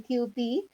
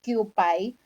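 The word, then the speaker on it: Kewpie: Yung pure egg yolk mayo, meron lang yon yung QP, or sometimes others pronounce it as QPI.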